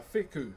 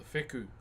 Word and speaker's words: wheku: Which leads us to a wheku. A wheku, W-H-E-K-U is how you spell it.